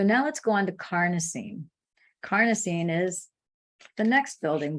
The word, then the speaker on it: carnosine: those antioxidants so with carnosine this supports healthy brain function improves memory and processing time strength stamina and endurance it rhymes with Carney like carne asada like Mexican taco meat tacos so Carney that has